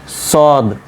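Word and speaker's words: ص: উচ্চারণ সদ সিন যা এই তিনটা উচ্চারণ এক জায়গা থেকে থেকে হয় ঠিক আছে কোথা থেকে হবে খেয়াল করবেন সদ সিন ঝা আপনার যে এব্রো থেব্রো জায়গা রয়েছে দাঁতের ঘোড়ার অংশে ও জায়গাতে জিহ্বাটা গিয়ে ঠেকবে ঠিক আছে দেখেন সদ সিন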